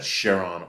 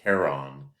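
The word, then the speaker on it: Charon: uh it's largest moon Sheron and by the way you can pronounce that Sheron or Kon um if you haven't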